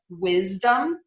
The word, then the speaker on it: wisdom: on ourselves here and we are going to say a z for the letter s before a voiced sound in words like wisdom cosmic and spasm cosmic and spasm yeah